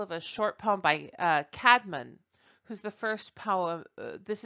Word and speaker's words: Caedmon: is an example of a short poem by Cadman who's the first power this is the first poem in English that's recorded and if any of you know the Christian band it's all usually pronounced Caedmon came with Kaitlyn's call this is the call